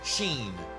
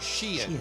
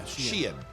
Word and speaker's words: Shein: Full disclosure, I thought this business is pronounced Sheen, but it's pronounced Shein. Yeah, Shein.